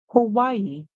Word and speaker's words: Hawaii: Our next word, Hawaii, Hawaii, Hawaii. And Hawaii is a word that you should learn by sight because it is not pronounced as it looks.